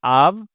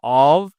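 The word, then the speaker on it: of: কিন্তু যখন ও অ্যাপ থাকবে, ইংরেজি ভাষায় একমাত্র জায়গা যেখানে অ্যাপের উচ্চারণটা ভয়ের মতো হবে, বাংলা ভ শব্দের মতো হবে, অর্থাৎ ভি সাউন্ড আসবে। ঠিক আছে, এখানে উচ্চারণ তিনটা হয়, একটা হচ্ছে আভ, একটা হচ্ছে অভ মানে সরিয়ে ভ, অথবা আ।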